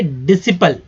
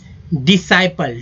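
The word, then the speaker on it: disciple: है, ठीक है, डिसाइपल, लेकिन शुद्ध उच्चारण होगा डिसाइपल, डिसिपल नहीं होगा, डिसाइपल। तो पहला जो आई है वो हो जाएगा ई के रूप में उच्चारित हो जाएगा, ठीक है, पहला आई जो ई के रूप में, और जो दूसरा आई जो है आई के रूप में उच्चारण इसका होगा।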